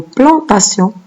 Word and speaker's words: plantation: Et dans le mot plantation, on entend le son C, mais on ne voit pas la lettre S. C'est un T qui se prononce S ici. Donc, la lettre T qui se prononce C.